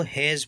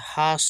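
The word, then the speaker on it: has: एच ए एस इसको हैज पढ़ते हैं एच ए एस इसको क्या पढ़ते हैं हैज ठीक है इसको एच ए एस से सानी होता है हास नहीं पढ़ेंगे हैज जज का अर्थ होता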